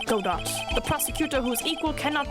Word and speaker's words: Godot: more mature God do um who is this godat person it's not surprising that a spirit medium has not heard the name Godot the prosecutor whose equal cannot be found in